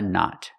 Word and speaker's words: knot: Remember, the K is silent. Tie a knot.